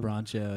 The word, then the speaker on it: Broncho: I don't know how to pronounce their name. Broncho, yeah.